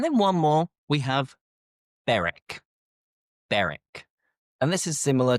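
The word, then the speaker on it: Berwick: We have beric. Beric. And this is similar to the previous ones as well where we don't pronounce the W. So you don't have wick. It's not burwick as it almost should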